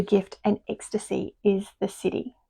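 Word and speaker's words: siddhi: So that city is spelled s i d hi in case you're wondering what I'm saying cuz um my daughter said she thought I was saying city as in c i t y.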